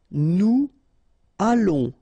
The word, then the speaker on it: nous allons: Nous allons. Remember, final S not pronounced. O and together, it's on. and then we'll make this little link between the two, what we call the liaison, nous allons.